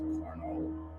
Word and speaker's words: Cornolle: Like that? It's just French. It's actually pronounced Cornolle.